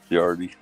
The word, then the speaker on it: Ciardi: Ciardi.